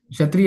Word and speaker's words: क्षत्रिय: How to pronounce this? क्षत्रिय, यस क्षत्रिय, इट इज Shad.